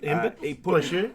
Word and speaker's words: Embiid: His teammate Joe Embiid, is that how you pronounce his name? Embiid? Embiid? Yeah. Yeah, that's it. Embiid.